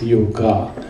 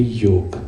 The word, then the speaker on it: yoga: come back to you there is no such thing as yoga it is just because of the English language they pronounce it as yoga it's only yoke okay so all this